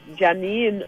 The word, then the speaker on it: Jah9: we started to pronounce it JAH9. It's pronounced Janine officially.